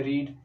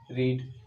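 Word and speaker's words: read: Spelling same रहेगा लेकिन पढ़ते हैं उसको कैसे हैं, रीड रेड रेड, ठीक है।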